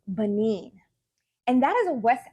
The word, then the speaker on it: Benin: um next revisions um so it is pronounced Benin and that is a West African country so